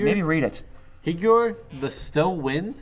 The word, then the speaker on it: Higure: Hygor? Higure. Maybe read it. Hygor, the Still Wind? It just rhymes with figure, and I don't know why that bugs me beyond belief, but it just does.